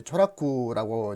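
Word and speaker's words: 調略: 조략, 그 일본 발음은 이제 조라쿠라고 이제 하는데요.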